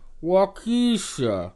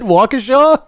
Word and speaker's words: Waukesha: gonna take a trip down to walk Issa and we're gonna check out the fairground he mispronounced it Waukesha wait why are there